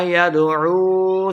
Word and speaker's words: يدعو: يدعو عین کو تلفظ سے پڑھنا ہے، واؤ مدہ دو حرکات لمبا کر کے پڑھیں گے.